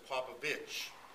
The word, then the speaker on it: Popovich: We were growing up as Popovich, and that was P-O-P-O-V-I-T-C-H. And I think that was more the Romanian version of pronouncing it.